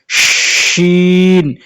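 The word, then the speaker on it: ش: এরপরে দেখেন সিনের মতোই দেখতে উপরে 3 নক্তা, এটাকে বলে শিন, শিন, শিন, সিন, শিন। মনে রাখবেন সিন এবং শিন এই দুটি হরফ উচ্চারণ করতে গিয়ে অনেকেই ভুল করে, এবং এমন ধরনের ভুল কোনটা সিন এবং কোনটা শিন এটাই চিনে না।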